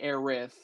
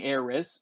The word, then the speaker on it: Aerith: So Japanese pronouncing Aerith and US pronouncing Aeris sound almost identical.